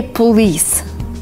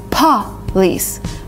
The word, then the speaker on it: police: so watch me carefully a lot of people say police which is not right it's police police kind of blowing a